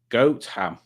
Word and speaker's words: Gotham: you know the knot Village of Gotham there it's pronounced goat ham exciting fact I have